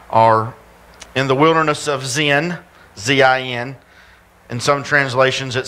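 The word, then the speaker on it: Zin: in the wilderness of Zen z-i-n and some translations it says sin s-i-n but it's pronounced Zen now in this particular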